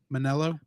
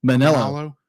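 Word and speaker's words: Manolo: so many fights yeah and how do you pronounce the other guy's name manelo manelo yeah manelo manelo yeah manelo be like is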